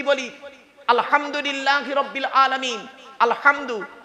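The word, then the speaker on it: الحمد لله: খাল কাটো আমরা নামাজ পড়তে গিয়ে কি বলি আলহামদুলিল্লাহি রাব্বিল আলামিন আলহামদু এ গলার ভেতর থেকে হেটা উচ্চারণ করবেন আলহামদুলিল্লাহ আলহামদু নয় আলহামদু আলহামদুলিল্লাহ মানে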